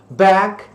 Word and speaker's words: bag: Então, ó, bag, entre o A e o E, bag.